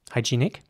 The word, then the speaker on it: hygienic: word in English now in British English it would be pronounced hygienic with a long e sound in the middle high G Nick hygienic and at American English it would be more like hygienic once again the the uh e towards the end that is pronounced like an uh hygienic hygienic here's an